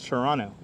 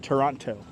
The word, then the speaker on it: Toronto: love about toronto and i always remember not to pronounce the second t it's toronto not toronto ah there you go